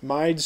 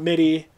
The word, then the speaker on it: Mide: mides chic that's m-i-d-e it is pronounced mide um right mind not midi not me day not something else it's mine um like the word bromide right the chemical bromide bro my that one um the first